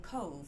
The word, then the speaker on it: Cobh: a lovely photo of Cove Cathedral and Cova spelled Cobh pronounced Cove CoV buts about to